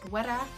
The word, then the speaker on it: Guera: It looks like it says Guera's World, but it's pronounced Guera.